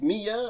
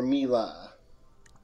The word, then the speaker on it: Mila: pronounce mia or mila is it pronounced mia or mila well it's short for camila you know but when i first started here sasha mispronounced it and i thought it was so cute i didn't have the heart to correct him and now i kind